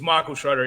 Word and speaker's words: Schroeder: of 90 points is michael schroeder he's fun fact for um for for this series was that uh his name rhymes with maya sharona so now every time